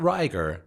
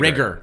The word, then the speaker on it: Rigger: Not Riger, Rigger. Rigger.